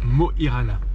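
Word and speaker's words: Mo i Rana: bienvenue ce matin nous sommes à moirana ça se prononce bien comme ça d'après les Norvégiens on a passé une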